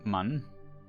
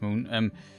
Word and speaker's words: Mun: Below us is again the moon, Man. Yes, it's pronounced moon.